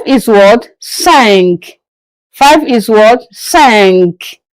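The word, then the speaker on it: cinq: Sank. As you can see the Q. So the sound of the Q has to come out.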